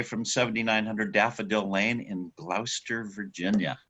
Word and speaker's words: Gloucester: 7900 Daffodil Lane in Gloucester, Virginia. Good, you pronounced it correctly. Yeah, I knew that. It was like Worcestershire. Dr. Foster went to Gloucester.